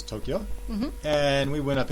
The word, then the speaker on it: Tokyo: That's two syllables, Tokyo.